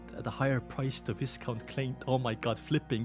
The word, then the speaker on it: Viscount: She could sell it at a higher price to Viscount Clint. Oh my god, flipping is merching. Viscount, by the way, that's how you pronounce it, who has been longing for this formula for a long time.